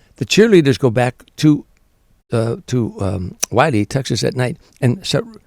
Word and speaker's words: Wiley: I say Wiley. I think she pronounces it Willie, but Anita Wiley.